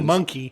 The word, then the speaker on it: Pamunkey: Pamunkey. Yeah. And it's not spelled like monkey.